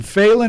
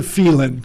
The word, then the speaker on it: Phelan: or so, and you're in in Phelan or Phelan? Correct me. Well- I never know what. Nobody else does either. Oh, okay. So both pronunciations are acceptable.